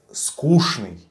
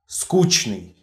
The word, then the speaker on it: скучный: So in Russian you will meet this word in two variants. The variant скучный is the proper one, according to dictionaries, and the скучный variant is a common sense variant.